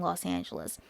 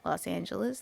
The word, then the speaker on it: Los Angeles: You notice nobody says it with an E. They say it like us or is. They're mispronouncing it. Los Angeles.